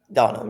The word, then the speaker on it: Donum: Donham, yes.